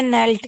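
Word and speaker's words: knelt: आ गया होगा शायद आपको सर सर ये नेल्ट क्या होता है झुक जाना okay sir sir spelling N एल के एन इ एल टी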